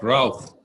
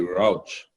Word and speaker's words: Rauch: I also read this week, and somebody sent it to me, a statement by Dr. Scott Routh, or the American pronunciation would probably be Rauch, the president of McLean Hospital in Boston.